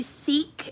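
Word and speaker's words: Seeq: This is the Seek. It's spelled S-E-E-Q, clear protein.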